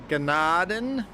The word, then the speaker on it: Gnadenthal: Ganaden. Don't pronounce the thign Ignore the H. Tal.